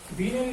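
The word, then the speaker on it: Wien: এবং এই উইন্স displacement ল এর সাহায্যে, অর্থাৎ বিনয়ী সূত্রের সাহায্যে, আর বিনয় বলতেছি কেন, কারণ ডাব্লিউ কে জার্মান ভাষায় ভয়ের মতো উচ্চারণ করে, সেই জন্য এটাকে বিনয় সূত্র বলে।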